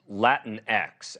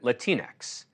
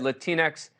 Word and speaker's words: Latinx: I'll admit that when I recently said the word Latinx out loud for the first time in my life, I pronounced it Latinx and was scolded for my ignorance.